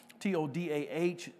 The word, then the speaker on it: todah: It's the Greek word, Hebrew word, todah. T-O-D-A-H, and it's pronounced todah.